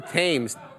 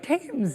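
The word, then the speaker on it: Thames: like T oh boy the luno the river tames t h m yeah but it's pronounced like tames yeah okay River tames like it spell th shout out to Adam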